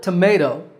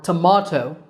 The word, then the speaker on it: tomato: In the word tomato, American, or tomato, British, the second syllable is the one that's stressed, ma.